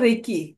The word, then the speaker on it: Reiki: सगळं ऑल वेल thank you so definitely thank you so रेकी दोन प्रकारचे शब्द आहेत कोणी कोणी ऐकलं रेकी